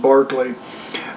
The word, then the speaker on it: Berkeley: by the name of Barclay. Now, if you see it on paper, it looks like it's spelled Berkeley, but it's actually pronounced Barclay.